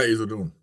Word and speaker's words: Issoudon: Rainer — heet de plaats Issoudon? Ja, Issoudon. Issoudon uitgesproken.